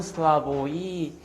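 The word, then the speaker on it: Slavoj: 따라서 슬라브의 지제 이렇게 근데 어 발음대로 하자면은 슬라보이 쥐 이렇게 하시면 되고 그다음에 교육부 표기한 대로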